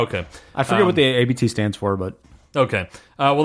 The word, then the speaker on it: Abt: And by the way, it's pronounced Abt apparently, and it is a style of beer.